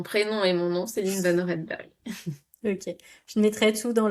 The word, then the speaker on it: Céline Vannoorenberghe: Alors là pour le coup avec mon mon prénom et mon nom, c'est Line Noredberg.